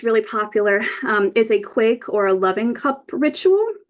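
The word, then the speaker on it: quaich: another thing that's really popular um is a quake or a loving cup ritual um it's a ceremony act often used in weddings to symbolize unity and commitment um the Quake it's pronounced Quake it's an actual two-handled Scottish drinking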